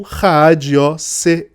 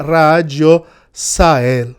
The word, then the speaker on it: Raagiosl: diário de John Dee, toda vez que termina em L, se pronuncia. Outra vez que o L tá sozinho, né? Sem nenhuma vogal seguida dele, se pronuncia El, como a fonética em hebraico do nome de Deus, né?